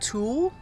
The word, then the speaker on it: tulle: All right, so here I am using what is called tulle, or it's spelled T-U-L-L-E, I believe, and it's also called netting.